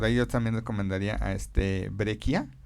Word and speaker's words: Breccia: Ellos hacen un estilo muy gótico que por ahí yo también recomendaría a Breccia, o Breccia, como se pronuncia, que es un autor argentino, que fue el primero que adaptó a Lovecraft hace 40 años.